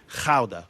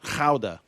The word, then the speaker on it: Gouda: Gouda. That's how it's pronounced. But anyway, you were saying... What? Sorry. That's how it's pronounced. It's pronounced Gouda.